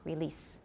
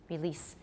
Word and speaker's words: release: that's two mistakes well assuming you're saying a z then the long e makes sense but both are wrong if you're considering the standard pronunciation so it should be s and because it's voiceless the e should not be too long release release and it was all